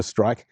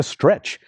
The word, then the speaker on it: Streich: Named after a Dr. Streich, who evidently didn't want to be called Dr. Stretch.